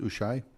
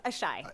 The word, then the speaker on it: Ashai: Ushai? Am I pronouncing your last name right? No, it's Ashai. Eshai, okay.